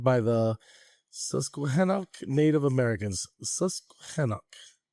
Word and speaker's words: Susquehannock: Susquehannock. Is that a thing? That's how you say it.